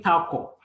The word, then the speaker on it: Ntakor: And give me the pronunciation of your last name again. Ntakor.